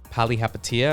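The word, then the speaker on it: Palihapitiya: purchased this because of a guy named chamath pali hapatia i believe that's how you pronounce his last name i listen to his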